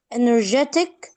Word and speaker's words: energetic: Okay, take care when you pronounce the J sound here. There's something like a slight D, letter D.